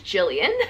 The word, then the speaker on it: Gilliam: the best for mrs gilliam i say gillian i'm pretty sure it's jillian she just spells it with the g i'm sorry if jill